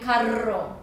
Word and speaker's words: carro: It would be carro, has double R. So you have to roll your R's.